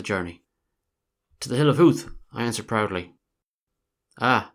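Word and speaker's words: Howth: to take for ho I pr ounc the word as it is spelled to rhyme with South he corrected me at once is the hill of Huth you mean he said making it rhyme with youth and that's your tram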